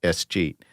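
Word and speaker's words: escheat: And so the idea of what's called, it's spelled E-S, like cheat, E-S, and then the word cheat, it's one word, S-cheat.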